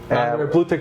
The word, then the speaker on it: Blue Tek: so you can see my company name is Blue Tech, Blue, and then Tech, T-E-K.